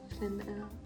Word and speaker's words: plein air: So normally you only say you would say plein by itself. But because there's a vowel afterwards, you say plein. Plein air.